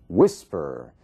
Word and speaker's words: whisper: E aí nós temos um outro caso, whisper. Whisper, você vê que a força da palavra, sílaba tônica, está na primeira parte, whisper.